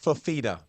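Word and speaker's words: Fifita: I want to hear y'all pronounce the QB for Arizona's name. Is it Fafita? Fafita? Noah Fafita.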